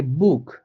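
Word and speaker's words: Buch: যে বুক, দেখেন বুক, হ্যাঁ, এখানে বি কিন্তু ব, অর্থাৎ বেটা বয়ের মতোই উচ্চারণ হইতেছে যে বুক।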